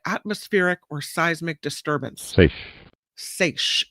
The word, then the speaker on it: seiche: Seiche is the way you pronounce it.